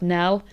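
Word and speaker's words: knell: And this is reinforced so clearly by this word nell. Um, so a nell is a funeral bow. It's spelt k ne.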